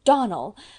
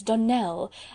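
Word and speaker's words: Donnell: "Clarice Almmyra told me that you pronounced our name Donald. Now, Miss Shirley, the correct pronunciation of our name is Donell, accent on the last syllable.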